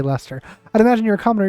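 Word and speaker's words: Leicester: To the nature of I can never pronounce the name right. Lester. I don't like it that it's Lester. It shouldn't be Lester.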